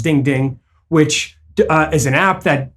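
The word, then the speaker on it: 钉钉: And then they also have DingTalk, which they interestingly pronounce Ding Ding, which is an app that provides services like text messaging and voicemail, things along those lines.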